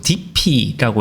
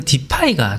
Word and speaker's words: Dify: 제가 지난 영상에서 계속 DP라고 읽었었는데요. 실제로는 디파이가 조금 더 상용적으로 사용되는 발음인 것 같았습니다. 어, 물론 DP라고 발음하는 경우도 있긴 있었던 거 같은데 영어권 같은 경우는 디파이로 잃는 것이 오려 일반적이었던 것으로 보입니다.